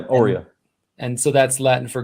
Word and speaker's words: Aurea: the the website so is it pronounced aurea are you yeah oreo and so that's latin